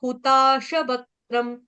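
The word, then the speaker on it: हुताशवक्त्रं: उसके बाद हुताशवक्त्रम, हुताशवक्त्रम, शवक्त्रम, शवक्त्रम, त्रम, त्रम। त्र के ऊपर जो बिंदी है उसका उच्चारण हलंत म से कर देंगे।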